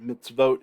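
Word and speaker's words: מִצְוֹת: hollom is the so this is tricky but mitzvot here is the correct pronunciation so teach your sons the mitzvot the commandments of the lord and zakar remember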